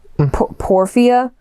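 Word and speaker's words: porphyria: they think um I don't know how to pronounce it. P O R P H Y R I A Porfia.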